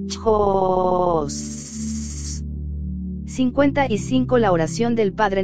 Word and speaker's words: CHOS: Se vocaliza este mantram así, CHOS.